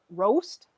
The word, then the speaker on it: Roest: real like coffee roaster or coffee shops, try to talk to them,